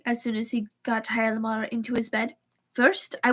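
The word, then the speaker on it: Hjalmar: It's spelled Hialmar. Hyalmar. Hyalmar. Hyalmar. I think that's how it's pronounced.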